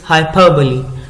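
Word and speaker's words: hyperbole: What is the pronunciation? Pronunciation of this word is हाइपरबली. हाइपरबली.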